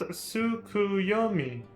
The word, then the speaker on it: Tsukuyomi: you can claim it's a table it is pronounced sukuyumi correct a figure from far eastern mythology no